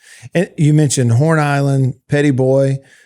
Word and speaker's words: Petit Bois: And you mentioned Horn Island, Petit Bois, which sounds fun to say, but it's spelled differently than you would think, obviously, if you were to look at it.